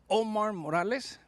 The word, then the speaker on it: Omar Morales: Gracias con Omar Morales.